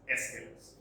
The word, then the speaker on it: Aeschylus: Some pronounce it like Aeschylus, others Aeschylus, whatever. It is generally pronounced as Aeschylus.